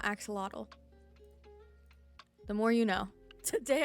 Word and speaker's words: axolotl: So it's actually axolotl and not axolotl.